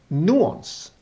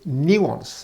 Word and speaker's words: nuance: Now, nuance as a word, nuance, has a nuance within itself, because NU, you would think that nuance is pronounced nuance, but generally it's nuance, as in N-E-W, nuance.